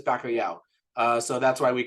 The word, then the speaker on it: bacalhau: and it turns out the word for COD in Portuguese is bakoo uh so that's why